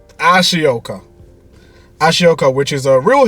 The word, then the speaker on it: Ashoka: called, I'm going to try and pronounce this properly, Shioka, or Ashoka. Yeah, Ashoka.